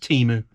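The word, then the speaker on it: Temu: It's pronounced Teemu.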